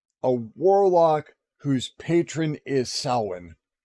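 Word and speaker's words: Samhain: warlock whose Patron is salwin Sam Hayne if you uh pronounce it with an American town and uh the the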